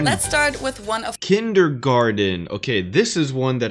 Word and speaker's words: Kindergarten: of the most known ones and that is kindergarten in German we pronounce it kindergarten kindergarten kindergarten kindergarten kindergarten kindergarten